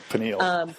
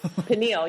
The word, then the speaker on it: pineal: Pineal. Pineal, yeah.